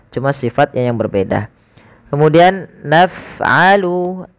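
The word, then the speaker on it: نفعل: Kemudian naf'alu, alirkan lafaz ketika kita melafalkan fa. Af gitu ya. Af naf'alu bil mujrimin.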